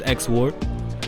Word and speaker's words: xwore: But my brand is xwore, xwore NYC, but it's spelled XWORE.